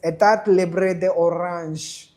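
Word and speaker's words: État Libre d'Orange: By the way, it is Etat Libre de Orange, okay?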